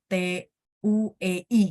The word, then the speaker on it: dui: Jadi DUI, memang bacanya TUEI gitu ya.